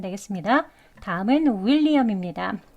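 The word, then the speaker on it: William: 되겠습니다 다음은 윌리엄 있니다 윌리엄은 이렇게 여기 또 강세가 여기 표시가 강세 표시예요 will 하면은 강세가 들어 있는 모음에 특징이 있는데요 소리가 길게 나고 높게 그리고 강하게 들립니다 그렇게 발음을 하셔야 돼요 그래서 그냥 윌리엄 윌리엄이 아니고 윌리엄 윌리엄 이렇게 발음을 해 주시는 것 또 유의하셔서 해보세요 두 번 해 보겠습니다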